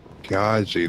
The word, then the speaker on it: Piaggi: Piaggi, that's how you say his name.